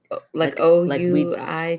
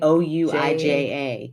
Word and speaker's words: Ouija: Which some people pronounce Ouija. Side note. Isn't that weird? That is really weird. I've never like heard that. It's half and half. People either say Ouija or Ouija.